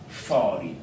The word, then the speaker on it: foreign: Foreign. Donc, GN en fin de mot se prononce toujours ne. Le G n'est pas prononcé.